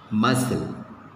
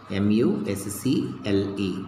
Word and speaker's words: muscle: but we don't pronounce muscle what is this m-u-s-c-l-e muscle s-c-e-n-e-c okay and here we have c is silent and here also c